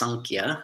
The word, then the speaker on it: Samkhya: our way uh the samkhya karika sometimes it's pronounced sankia with an n uh here i'm using